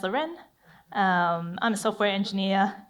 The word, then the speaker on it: Larene: past and present so my name is Loren pronounced luren um I'm a software